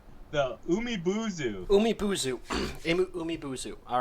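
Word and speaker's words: Umibōzu: Yeah, chapter 2, the Umibuzu.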